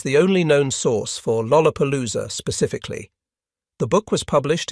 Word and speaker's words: Lollapalooza: An American slang term meaning something outstanding or extraordinary, it contains 4 L sounds in rapid succession at the beginning of syllables. Lollapalooza.